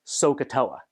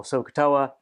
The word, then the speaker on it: SOHCAHTOA: So if we write it like that, then and a lot of people then pronounce this as SOHCAHTOA.